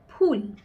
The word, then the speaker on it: ফুল: ফ উচ্চারণ করব তখন ফ দুটো ঠোঁট একসঙ্গে একসঙ্গে লেগে যেটা উচ্চারিত হবে সেটা ফখন ইংরেজির এফ